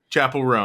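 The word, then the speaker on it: Chappell Roan: Chapel Roan. You said it exactly We right. all Is that just how you say it? Chapel. Chapel Roan.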